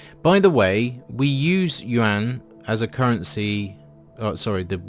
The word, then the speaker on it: yuan: The word is one syllable. I hear people go yuan or yuan, and well, that's kind of painful.